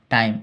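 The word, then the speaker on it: time: रहे हैं इसको अलग-अलग इसको टीम नहीं पढ़ सकते हैं टी से ट फिर से आकार फिर से हरसई और म एम से म टाइम इ का उच्चारण नहीं सिर्फ टाइम लो इसकी हिंदी को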